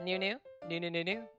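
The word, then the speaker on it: ぬ: to remember it so if you think of new as noodle when we get to may think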